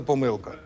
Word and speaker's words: помилка: владлен тому що подвійний наголос в слові помилки можна сказати помилка можна казати помилка Сергій питання до вас в